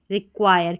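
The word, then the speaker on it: require: यू आई आर ई रिक्वायर क्योंकि जो यह आई आर ई है इसका आयर करके उच्चारण होता है। यह भी एक कोड होता है। आयर करके इसको पढ़ते हैं।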